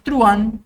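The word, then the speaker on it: truhan: yo veo acá que esta palabra truan es la que más suele causar problemas porque parece que tiene dos sílabas pero en realidad la h intermedia no impide que haya un diptongo Entonces truan es una sola s al hablar de la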